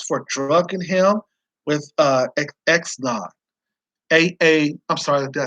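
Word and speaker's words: Xanax: teammates and roommates for drugging him with uh x naught a a i'm sorry i said it right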